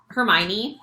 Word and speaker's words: Hermione: be for Halloween Charlotte join us for Moni Hermione that's how you say her name from Harry